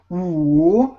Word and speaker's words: 五: 五. Good. 非常好，非常好。五. Okay. 五. Yes. So this is a tricky one because it has the third tone in Chinese.